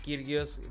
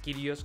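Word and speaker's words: Kyrgios: Acaba de perder en el abierto de Madrid con Nick Kirgios. Kiros creo que se pronuncia el australiano.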